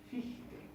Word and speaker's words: Fichte: Johann Gottlieb Fichte. Y en alemán la IE es una I larga.